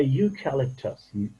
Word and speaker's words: eucalyptus: A eucalyptus, this E is a eucalyptus, so therefore, a eucalyptus, not an eucalyptus.